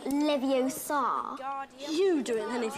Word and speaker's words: Leviosa: Besides, you're saying it wrong. It's Leviosa, not Leviosa. You do it then if you're so clever. Go on, go on. Guardian Leviosa.